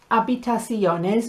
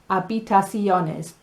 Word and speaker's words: habitaciones: Habitaciones. Don't be tempted to say ha. It doesn't start with the letter J. It starts with an H, and that is silent, so it is habitaciones.